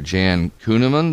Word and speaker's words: Jan Kuehnemund: Well, what I thought was the most moving deal is when I started noticing that there was a reference to Jan Kuehnemund. Am I pronouncing that right?